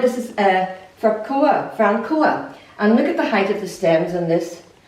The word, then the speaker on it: Francoa: And you pronounce this as Francoa.